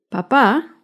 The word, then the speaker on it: papá: Papa lleva el acento en la primera sílaba. En cambio, papá lleva el acento en la segunda sílaba.